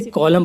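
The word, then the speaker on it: column: अब इसमें देखो गाइस एम के बाद एन आया हुआ है तो एन साइलेंट है इसे कॉलम पढ़ेंगे गाइस इसकी हिंदी होगी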